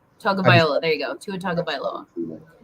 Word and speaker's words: Tagovailoa: I think it's Tagovailoa. Tagovailoa.